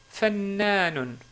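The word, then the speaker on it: فنان: Fannanun. Ou, si on s'arrête sur le mot, on dit fannan.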